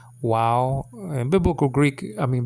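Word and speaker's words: וָו: w sounding letter but some people pronounce it like a V sounding letter VAV you know so um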